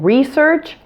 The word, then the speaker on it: research: An exception to this rule is words that have the prefix re, like in research and resource. Those middle S's after the RE are still pronounced with an S sound.